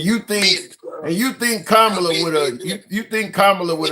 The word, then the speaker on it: Kamala: It's not Kamala, it's Kamla. Like the like a comma punctuation, comma la.